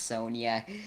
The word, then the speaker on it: Sonja: It's pronounced Sonia.